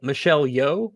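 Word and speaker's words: Michelle Yeoh: long then plus reshoots this is what michelle michelle yo is that how you pronounce it yes uh she said daniels i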